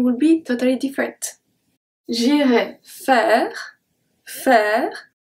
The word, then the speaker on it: faire: J'irai faire, faire. AI is also pronounced as a E because it's in the middle of the word.